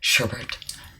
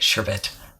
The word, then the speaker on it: sherbet: maybe a sherbet sorbet sherbert i'm gonna pronounce that i keep doing two r's in it sherbet there we go sherbet pink suit that